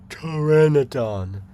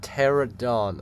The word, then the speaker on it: Pteranodon: Pteranodon, not Pterodon.